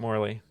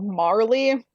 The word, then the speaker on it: Marley: we're lacking with jacob morley um i need to make a judgment call here because it's actually jacob marley like bob marley oh that's just how